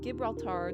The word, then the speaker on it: Gibraltar: The salted tuna produced along the Strait of Gibraltar during Phoenician times.